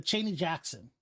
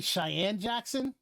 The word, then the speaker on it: Cheyenne Jackson: a guy named uh chaney jackson okay um it's actually cheyenne jackson but i don't know if that's how he actually calls himself but that's how it's spelled um this guy was